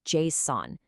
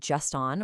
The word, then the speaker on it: JSON: The absolute gold standard here is JSON. You really want to avoid just-on or jason, because that can cause some momentary confusion in a rapid-fire meeting.